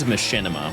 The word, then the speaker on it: Machinima: Uh there was a company that purchased another company that owned Machinima which was a was a gaming company.